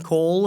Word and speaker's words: Cole: is it pronounced Cool or Cole? Cole. Thank you very much.